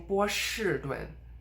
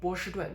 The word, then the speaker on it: 波士顿: I'm not saying 波士顿, but 波士顿. The next one is 阿司匹林.